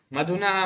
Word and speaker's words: मधुनी: ऐसे मधु मधुनि मधुनि मधु मधुनि मधुनी मधुनि नहीं, मधुनी मधुन है।